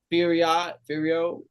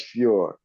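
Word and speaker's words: Fiorot: But Oh, I think it's Furor. Furio, No, it's Furor. Fur, Fur. Manon Furor. Yeah, like that. You're saying it right.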